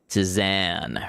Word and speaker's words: Tizan: Tizan rhymes with pan.